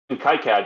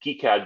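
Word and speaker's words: CAD: just raw documentation um even Kad or kead depending on how you want to pronounce it and one thing I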